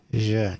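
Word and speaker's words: jeux: おいで YouTube, how to pronounce je games in French. Tell me the secrets, YouTube. この勝利は訓練の賜物だよねうんまた頑張ろうね提督 Je. The X is silent.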